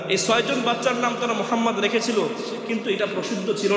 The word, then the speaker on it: মুহাম্মদ: আলিফ লাম লাম হা মুহাম্মদ উচ্চারণ করতে গেলে তিন নম্বর অক্ষরে গিয়ে একটা হরফকে ডবল উচ্চারণ করতে হয় আল্লাহ উচ্চারণ করতে